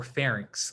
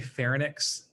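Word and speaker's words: pharynx: fun of anybody but you want to pronounce these as like larynx or FX okay because um just the way it's spelled some people say ferx and I think what they're doing is they're switching the n and the Y right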